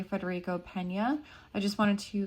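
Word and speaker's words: Federico Peña: I just wanted to say that I had been pronouncing the former mayor's name incorrectly and it's actually Fedrico Pena.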